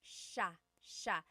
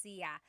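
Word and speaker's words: siya: And another tip uh just about pronunciation, it's sha sha. The si y combination makes that sha- sound. It looks like it should be pronounced sia. There are some regions in the Philippines, I believe, that say sa, but usually in the central Luzon area, it's pronounced sha sha.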